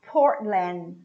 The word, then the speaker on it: Portland: portland portland port land this tea is a soundless tea you form it but you don't put it out there's nowhere coming out so you say port lan the same happens with the final d portland portland one more